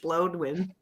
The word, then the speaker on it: Blodwyn: Bloodwin. What? I'm going to need you to spell that, please. BLODWYN, like as in a Scottish Bloodwin.